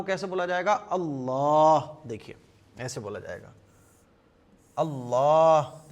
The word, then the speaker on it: अल्लाह: होता क्या हम लोग इसको अल्लाह अल्लाह लेकिन एक्चुअल में अल्लाह का प्रोनाउंसिएशन क्या है? एक्चुअल में अल्लाह को कैसे बोला जाएगा? अल्लाह देखिए ऐसे बोला जाएगा।